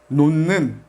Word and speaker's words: 놓는: Cuando 받침 h se queda con la consonante n, pronunciamos como n. Por ejemplo, 놓는, 놓는.